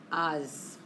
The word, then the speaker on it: haz: Haz. Haz la tarea en el supersitio. Irregular. ¿Cuál es el infinitivo de haz? Hacer. And remember, la H en español es invisible, como hola. No se pronuncia la H.